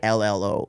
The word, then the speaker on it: Grillo: Grillo. Only because I've known that's how he pronounced it on other podcasts.